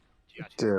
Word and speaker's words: Giacchino: I think that's how you pronounce his last name. Giacchino.